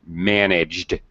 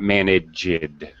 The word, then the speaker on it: managed: Christian, be careful when you're pronouncing past tense verbs with ED. We only pronounce an extra sound, an extra syllable, id, when the verb ends with a T or D. So, for example, managed, not managed. Managed. Better. Managed.